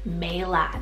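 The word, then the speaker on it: Maela: future I also love the name Mela m-a-e-l-a Mela this is a gorgeous old Celtic rooted name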